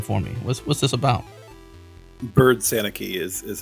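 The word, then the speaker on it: Byrd-Sanicki: Bird Sanicki is how you say Megan's there you go, last Bird name.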